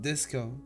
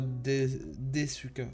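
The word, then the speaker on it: ですか: Par exemple pour pour une question c'est Deska pas Desuka alors que Deska c'est euh c'est c'est éloigné.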